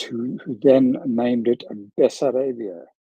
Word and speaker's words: Bessarabia: who then named it bessarabia have I got that pronoun right that pronunciation right b b that's that's the Southeastern part yeah that's right so the majority of